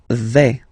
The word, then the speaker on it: vais: Okay, so remember, final S not pronounced here. Je vais. Okay, when you combine this A, I, you get the sound E, really open.